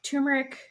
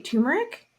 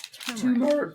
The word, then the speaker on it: turmeric: Turmeric? It doesn't have a tumor. It's turmeric.